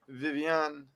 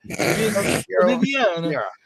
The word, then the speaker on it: Viviana: Viviane. Was it Viviana? It's Brazilian, not French. Yeah, I know. I did. Viviana.